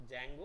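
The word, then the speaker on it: Django: वो एक्चुअली में डी जो है वो साइलेंट है, तो जैंगो अनचेन्ड, चेन खोल दी गई उसकी, अनचेन्ड है ना।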